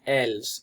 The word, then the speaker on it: elles: one is ils and elles. Now it's important to note that this S is not actually pronounced, so it would be il and elle, but just for the